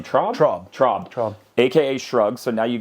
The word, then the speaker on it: Traub: Traub.